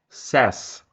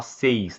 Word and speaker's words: says: Aqui muda a pronúncia, tá? Então fica com som de é. Aqui, ó. Então, says. Says. Porque o resto fica igual, ó. Fica we say, you say, they say, certo? E aí na terceira pessoa fica says. Says. Cuidado para não falar seis, tá? He says, não. Seis em inglês é six, tá? A palavra seis não existe em inglês. A forma correta de pronunciar é says.